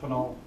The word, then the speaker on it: Pinal: Does anyone know how to pronounce that? Pinal? It's Pinal.